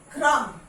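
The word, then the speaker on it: crumb: बी इज not pronounce, B is silent.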